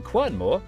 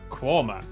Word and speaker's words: Quernmore: Mousehole, Next, travel north up to Towcester, Toaster, then a quick jaunt to Gotham, Gotham, followed by a stop in Quernmore, Quormer, before finishing up in Alnwick.